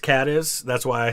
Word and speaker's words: Cadiz: he was born in caddis spain or is it cadiz i don't know the one in ohio is pronounced cat is that's why i say